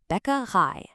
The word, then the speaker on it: Bäckerei: Remember that A sound at the end? It's just like the English word I. Let's hear it. Bäckerei.